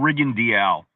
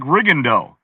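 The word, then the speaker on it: Rigondeaux: I announced uh GMO Riendial. The way his name is spelled, it looks like Riendo, right? Right. But I went to him and he said, "My name is GMO Riendial."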